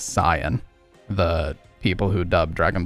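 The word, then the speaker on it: Saiyan: glasses for this one the correct pronunciation would actually be Sayan because in Japanese it's sain so if you were going to be accurate it actually is Sayan the people who dubb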